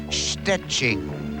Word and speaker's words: Szczecin: Perhaps if only to teach people how to pronounce the name of her hometown in Poland. It's Szczecin.